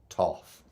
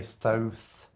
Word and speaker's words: Thoth: Toth presout pronounced as Toff yeah some people say Thoth tooth Thoth like froth I have a Canada say Toth Toth what a gorgeous